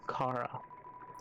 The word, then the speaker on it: Chara: way Frisk or Chara Chara that's how okay that's at least how I say it me personally I always say Cara like car room vom and then